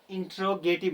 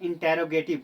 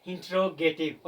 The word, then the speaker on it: interrogative: It's called इंटेरोगेटिव नॉट इंटेरोगेटिव। बहुत सारे student इसको इंटेरोगेटिव इंटेरोगेटिव बोलते हैं जो इसका प्रोनाउंसिएशन नहीं है। इसका करेक्ट प्रोनंसिएशन है इंटेरोगेटिव।